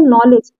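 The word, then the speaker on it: knowledge: के साइलेंट है जैसे नॉलेज के एन ओ डब्लू देखिए मैक्सिमम ऑलमोस्ट लगभग चीजें क्या होती है एन के पहले अगर के आया एन के पहले अगर के आया है वहां पर के हमेशा साइलेंट होता है ठीक है उसी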